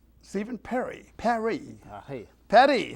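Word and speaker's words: Paré: Pare. How do you say it? Pare. Pare. Now, they have that little mark over the E? Accent aigu.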